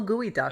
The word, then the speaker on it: geoduck: Oh, it's gooey duck. Slow gooey duck, Okay, right? so- That's how you pronounce that, gooey duck.